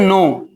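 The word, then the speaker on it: know: ये कह रहा है के को नहीं उच्चारण कीजिए। के साइलेंट है।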